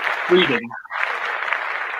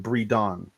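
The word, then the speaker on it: Bridon: Breedon. Yeah. Breedon. Yeah. Okay. The way that you were pronouncing it sounds like you're saying breeding.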